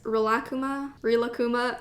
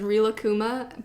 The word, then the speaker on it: Rilakkuma: I always used to pronounce it as Rilakkuma, but then Netflix recently released a series about it. And Lena Condor actually pronounces it Rilakkuma, which is apparently the correct Japanese pronunciation.